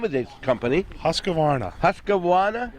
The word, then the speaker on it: Husqvarna: to be along with the, I can't even pronounce the name of this company. Husqvarna. Husqvarna? Husqvarna.